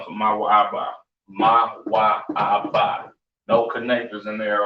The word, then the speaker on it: Moab: Pronounced Mawa'aba, right? Mawa'aba is Moab, right? So y'all can see that. Moab or Mawa'aba, right?